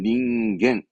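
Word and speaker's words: 人間: 그리고 뭐 나머지는 뭐 시간의 간자, 이슈간, 닌겐 조심할 거. 원래는 칸하다가 인간만큼은 닌겐.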